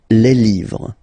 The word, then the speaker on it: les: Okay le and then same rule you just write and then you put s at the end but then you don't pronounce it le.